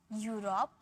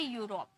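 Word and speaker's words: Europe: इस तरीके से ज़्यादा नहीं होते, बस मैंने रूल बता दिया कि कहीं आप कंफ्यूज ना हो, इसे ई में प्रोनाउंस ना कर दो, ये यू में प्रोनाउंस होता है, यूरोप, यूलोजी, ठीक है।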